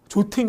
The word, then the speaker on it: jotting: 이걸 몰랐다면 당하는 건데 이것도 이제 오 발음이 미국 가면 아처럼 들리고 이게 모음 사이라 T예요. 그래서 발음이 또 jotting down.